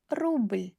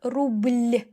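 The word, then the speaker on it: рубль: zhizn zhizn rubl rubl First time when you start pronouncing consonants soft with soft sign, you can highlight them like rubl, rubl. Like you make more effort to make it soft.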